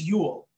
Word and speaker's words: Yule: not your science teacher my name is yule it rhymes with mule fuel i'm not a mean